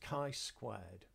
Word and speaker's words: chi-squared: the test is called a chi-square test it's pronounced chi-squared and what it does is we are testing